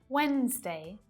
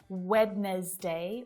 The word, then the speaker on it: Wednesday: Sandwich, Wednesday, handsome. Handkerchief is another. But there's no D sound there. We don't hear d, d, d. We don't say Wednesday or handkerchief. It's just Wednesday, handkerchief. No D at all.